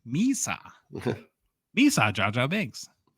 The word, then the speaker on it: Misa: So Michael Misa, I even looked up the pronunciation. Misa.